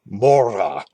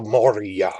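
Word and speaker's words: Mohra: it the right way it has non-english sounds in it but something like the moriyah or something even though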